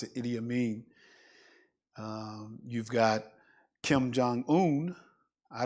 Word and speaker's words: Idi Amin: I don't speak Congolese, but the leader's name was Idi Amin. That's how you pronounce it, Idi Amin.